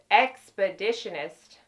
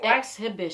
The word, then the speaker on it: Exhibitionist: The one that I have in my kit right now, I only carry waterproof, is the CoverGirl Expeditionist. That's how you say it, right? Exhibitionist. Exhibitionist. I'm like, what in the world?